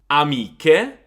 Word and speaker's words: amiche: So CH and GH is a K and G sound. For example, chi or che, amiche, amiche, laghi, laghi, traghetto, traghetto.